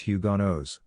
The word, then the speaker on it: Huguenots: the jarrett brothers were french protestant huguenots pronounced hugonos the catholic church did